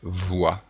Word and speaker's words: voix: Et on a un petit son dont on va parler tout à l'heure qui se prononce OUE, voix.